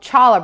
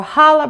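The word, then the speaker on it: challah: I've chosen is called Chala bread or Hala bread or Halala bread depending on where you're from you pronounce it a little differently you can find this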